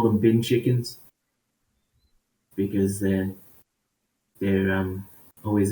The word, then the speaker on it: bin chicken: physical advantage there because it actually like pronounced that say bin chickens b-i-n bin bin chickens bean chickens have you not watched